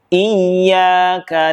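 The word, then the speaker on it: إياك: ayat yang kelima ini, tolong diperhatikan pada huruf ya yang bertasydid. Di sini ada dua huruf ya yang bertasydid. Yang pertama, iyyaka na'budu, lalu yang berikutnya iyyaka nasta'in. Di sini salah satu cara membaca huruf yang bertasydid adalah dengan menekannya. Namun, hati-hati, kebanyakan terjadi adalah tidak menekannya.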